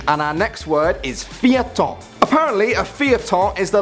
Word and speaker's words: feuilleton: But I can tell you that it's spelled FEUILLETON. Feuilleton. And if you're wondering why it's spelt like this, it's because it's French.